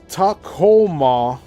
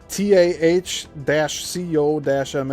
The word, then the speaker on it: Tacoma: of wind and water tacoma t ah- co- mah H Tacoma like Tacoma, Washington or Kate Zal K A T-Zhl the prophet.